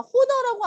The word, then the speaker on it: honor: 제가 honor라고 안 하잖아요. honor. H 발음 안 해요.